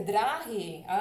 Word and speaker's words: dráhy: České dráhy. Ya, Claudia, sí, te entiendo. Dráhy se escribe así y tienes que tomar en cuenta que la palabra es larga, la primera sílaba es larga, dráhy.